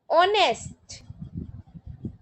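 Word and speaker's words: honest: ऑनेस्ट, ओ, तो फिर एन आएगा।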